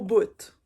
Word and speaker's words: bout: top donc c'est au bout donc on prononce le T à la fin du Bout euh une derni une